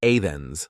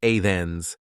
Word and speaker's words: Athens: You might also encounter cities like Athens, where learners might say Athens like it's two parts, but the correct way to say it is just Athens, with a soft A sound and the T like a soft th sound.